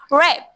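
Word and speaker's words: wrap: रैप, डब्ल्यू आर ए पी, रैप, W, W, excellent.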